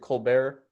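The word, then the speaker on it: Kolbert: extinction by elizabeth cole i don't know how to pronounce it colbert colbert colbert it's like stephen colbert with a k um that book goes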